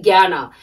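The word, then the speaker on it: jñāna: So you have to pronounce J-N-A-N-A-S, Gyana.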